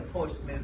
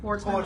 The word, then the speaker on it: Portsmouth: I've never been to Portsmouth, Virginia. And the way it's spelled, I kept saying online, I was posting Instagram videos, I kept saying Portsmouth.